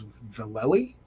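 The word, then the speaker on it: Vallely: mispronounce your name um I believe he confirmed that it was velli yeah Val yeah valy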